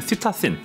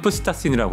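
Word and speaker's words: psittacine: 이제 시타는 뭐냐면 시타신, 라틴어로는 푸시타신이라고 하고 피 발음을 하니까 영어에서는 피가 묵음이 돼서 시타신, 즉 앵무류가 앞에 붙어서 시타컬처럼 앵무를 기른다.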